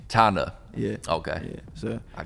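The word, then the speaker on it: Thana: don't say it oh i said donna it's t-h-a-n-a tanda yeah okay yeah so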